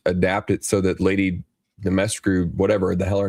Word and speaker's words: Dimitrescu: Dimitrescu, by the way, is how it's pronounced.